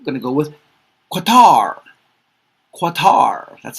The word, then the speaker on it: Qatar: Qatar. That's how I pronounce it.